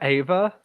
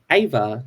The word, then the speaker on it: Eva: Are you calling her Ava? Evah Destruction. It's Eva. Like Eve of Destruction.